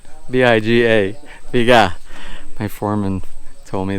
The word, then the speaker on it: biga: And by the way, I was just informed that the pronunciation in Tagalog for the beam is biga, B-I-G-A, biga.